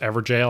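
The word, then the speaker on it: Evergaol: a double take okay for real though it's pronounced ever jail I just wanted to see you squirm we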